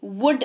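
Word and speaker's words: would: ओ यू ल दी ल again इसमें साइलेंट है मतलब होता है ग जी जी वुड उच्चारण होता है इसका मतलब होता है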